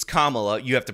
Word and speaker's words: Kamala: not Michael Eric Dyson saying excuse me it's Kamala you have to pronounce it right and then of course he